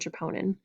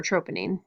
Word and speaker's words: troponin: So muscle contraction is regulated by proteins called tropomyosin and troponin, and or troponin, either way, you can pronounce it either way.